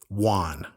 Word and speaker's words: won: When you say the word "won," okay, like you just won something. Won. You say won or I just won? won. You just won. I just won the battle. Like the number one.